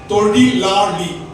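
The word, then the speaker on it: தொழிலாளி: எத்தனை பேருக்கு தெரியும்னு தெரியல மூன்று லகர லகர லகரம் வரும் பக்கத்து பக்கத்துல வர்றதுக்கு ஒரு சொல் இருக்கு மூணு பக்கத்து பக்கத்துல வரும் தெரியுமா தொழி லா லி ஒழுங்கா உச்சரிச்சீங்கன்னா லகரம் வந்துரும் தொழி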